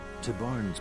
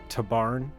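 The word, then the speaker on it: Tibarn: Don't really trust the way the narrator pronounces things, though I think that is the correct way for Tabarn. See, when you say it like Tabarn, it sounds like we're going to the barn. Tybarn sounds like a name.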